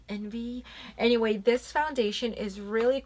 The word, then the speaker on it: NV: this is their new line of foundations called envy it's the actual letter N and V but pronounced and V like envy anyway this foundation is really cool it comes